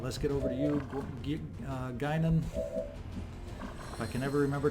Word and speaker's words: Guinan: tuned into and realized all along I've been mispronouncing the name. What do you know? Guinan, let's get over here with run and gun and take a shot.